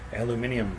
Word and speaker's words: aluminium: well as the final alluminium piece that's how they pronounce it in the UK by the way on